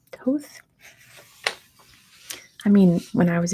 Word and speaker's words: Thoth: Thoth.